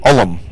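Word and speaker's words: Ulm: you're from there you it's two syllables even though it's only three letters it's new olum lot of Germans in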